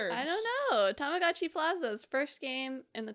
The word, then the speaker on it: Tamagotchi: at a Nintendo Direct, the announcer said Tamagotchi, which is actually the correct pronunciation, but a lot of responses being like, "What the freak is a Tamagoi? this guy talking about? Look, I understand what the Japanese underpinnings there must be. It's, in case you're wondering, it's tamago, which is egg, hence the egg thing with watch.